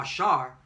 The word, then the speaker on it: Asher: And she called his name Asher, or Ashar, which means happy.